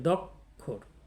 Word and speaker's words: দ্ব্যক্ষর: শেষে থাকে তাহলে ক খ উচ্চারিত হয় তাহলে দক্ষর দক্ষর মানে দু অক্ষর বিশিষ্ট আমরা চতুর্থ বর্ণটি